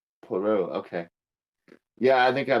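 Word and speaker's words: Poirot: this dispelling is Pio iro T but it's pronounced poro poro okay yeah I think I might know who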